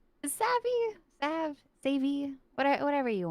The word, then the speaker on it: Savvy: Am I pronouncing it correctly? Is it Savvi or is it Savi? Savvy.